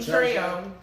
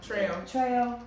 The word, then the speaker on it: Trejo: Danny, I can never pronounce his last name right. the one that does the machete. Trejo. Trejo.